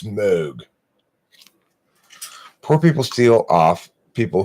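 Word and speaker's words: Moog: North Carolina new fast it's not pronounced mood its mode poor people steal off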